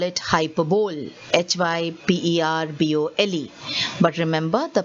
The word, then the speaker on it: hyperbole: We could very easily call it hyperbole, Hyperbole. But remember, the pronunciation is hyperbole. Okay, see the pronunciation here? The word is said very differently from the way it is written.